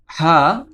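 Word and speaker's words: ح: হা এই হাফটি গলা কন্ঠনালী একটু চাপা দিয়ে উচ্চারণ করতে হয়।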